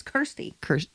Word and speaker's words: Kirsty: It's not Christy. It's Kirsty.